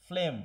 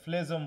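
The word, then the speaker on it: phlegm: জি এর কোনো উচ্চারণ হবে না। অনেকে ফ্লেজম বলো না যেন আবার, হ্যাঁ।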